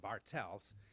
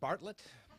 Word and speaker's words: Bartels: had the answer to my last name is spelled or pronounced bartels it's German but I respond to Bartlet Bartles and any other mispronunciation